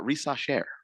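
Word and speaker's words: Risacher: either racher or rise CH sound in French is a sh sound so anyway crap say it again uh rasher or R depending on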